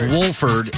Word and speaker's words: Wolford: Sunday's your day John Wolford pronounced the L he said it's Wolford and I I'll say